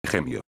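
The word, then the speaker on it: ĥemio: Esta H con circunflejo, suena como una J fuerte. Ejemplo, la palabra, gemio.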